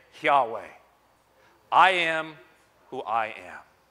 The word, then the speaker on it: Yahweh: am who I am in the Hebrew it is pronounced Yahweh it is why for